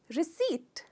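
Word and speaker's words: receipt: कहते हैं मैं इसे जनरली लोग इसमें पौर का भी साउंड लेते हैं जो गलत है इसमें पीस साइलेंट है तो हमें रन आउट करना है रिसीप्ट रिसीप्ट इसमें आप ट्रैक्स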